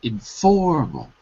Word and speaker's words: informal: in the First Column informal the stress is on the second syllable and there's only three syllables so that is correct